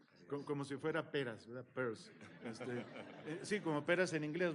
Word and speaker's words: Peirce: Peirce. Sí, como peras en inglés, ¿verdad? Peirce. El apellido se pronuncia exactamente igual al nombre en inglés para lo que es la bolsa de la mujer, purse.